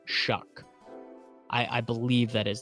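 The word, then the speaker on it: Shough: hyping up shuck well it's spelled like show it's spelled s h o u g but then I think it's pronounced shuck I I believe that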